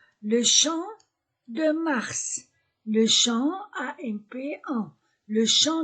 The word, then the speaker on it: Champ de Mars: Prononciation le champ de mars.